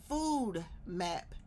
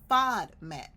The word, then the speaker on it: FODMAP: on the FODMAP diet, they say it back to me as food map diet. It's not a food map, it's a FODMAP. FODMAP stands for fermentable oligosaccharides, disaccharides, and polyols.